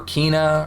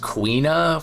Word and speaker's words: Quina: Quina or Kina or Quina, quinoa. No, for real, I think it's pronounced Quina from what I've seen most commonly.